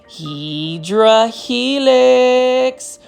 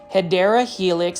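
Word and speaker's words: Hedera helix: And then you can see right over here, we've got a heedra helix or the correct way to say it is hideera helix.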